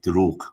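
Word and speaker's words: دروغ: And in Persian, it also rhymes with durug, which is lie.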